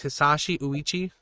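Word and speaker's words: Hisashi Ouchi: So the way you pronounce his name is Hisashi Uichi, I believe.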